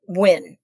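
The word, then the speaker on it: Nguyen: I think it was by Joseph Wyn, but it's spelled N G u.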